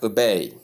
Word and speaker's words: obey: So stressing the first syllable is wrong as in this case. Tip stress is on the second syllable and ba sounds like ba.